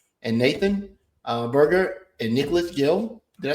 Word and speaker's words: Geil: But we want to thank Cyclotron and Nathan Berger and Nicholas Geil. Did I say your last night, Rep? Did I say it right? Geil. I did. Like Jay Geil's band.